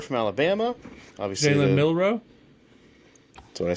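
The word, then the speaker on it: Milroe: Seahawks took Jaylen Miller from Alabama. Obviously Jayen Milro.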